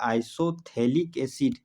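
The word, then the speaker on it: isophthalic acid: Name में बोलते हैं आइसोथैलिक एसिड, जहाँ पर पीएच क्या है, साइलेंट होता है।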